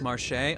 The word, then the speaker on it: Marche: Marsh is pronounced Marche?